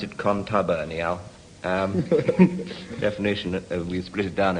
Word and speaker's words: contubernial: Contubernal. Is that just as it's... contubernal? Yes. Well, yes, in fact, you pronounce it contubernial.